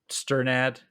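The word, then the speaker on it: Strnad: you don't know Trevor sternad I think is how you pronounce his name uh is his last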